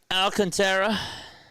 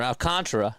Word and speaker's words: Alcantara: So Alcantara or Alcantara, excuse me, went five innings today.